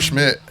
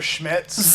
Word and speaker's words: Schmitz: the pronunciation there uh so it's Oliver Schmitz there's a oh there's actually a Schmidt all night all night